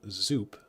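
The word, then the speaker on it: Zoup: working at a restaurant called zp that's soup with a uh soup with a z it's it's like a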